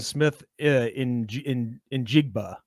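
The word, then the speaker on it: Smith-Njigba: ben i got to correct you that's jackson smith in in jigba yeah it's hard to say his name is the pronunciation just so i wouldn't make a fool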